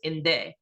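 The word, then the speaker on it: Indé: which means enemy so what we call ourselves is inde uh sounds very similar to den uh which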